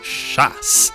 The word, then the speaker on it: chasse: And now make sure you pronounce chasse and not chiasse, because otherwise this would mean tirer la chiasse to throw my poop.